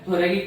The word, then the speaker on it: thoracic: सो जो हार्ट है ये कहाँ पर प्रेजेंट है, थोरैकिक कैविटी में प्रेजेंट है। ओके, इसको आप थोरेसिक भी बोल सकते हैं, थोरेसिक कैविटी में present, but more valid is थोरैकिक cavity.